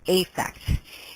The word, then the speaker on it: affect: one a is correct effect and this again is an exception to the rule it is almost always pronounced as a long a effect so here it